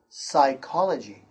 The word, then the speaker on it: psychology: In this note, the first one is P is silent at the beginning of a few words. The P sound is silent, like this word, psychology.